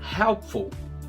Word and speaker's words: helpful: Helpful, útil, fica more helpful. E lembrando que só tem 2 sílabas, ok? Helpful, não é helpful. Esse I não existe.